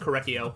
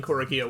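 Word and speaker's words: Korekiyo: I didn't realize that his name was supposed to be pronounced Korekio, because I think that sounds way cooler than Korekio, which is, like, what I've been saying.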